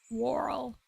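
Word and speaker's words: whorl: Um, how to pronounce warl? Warl.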